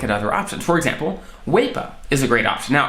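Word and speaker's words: WAEPA: want to look at other options for example weipa is a great option now i'm not compensated by waypo at all zero percent okay and that is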